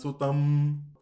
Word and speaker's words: সুতং: উমা সুতম। তয়ের পরে হচ্ছে অনুস্বার এবং পরবর্তী অক্ষর হচ্ছে তালব্য স। যেহেতু একটি উষ্ম বর্ণ রয়েছে তাই এখানে অনুসারের বিশেষ উচ্চারণ হয়।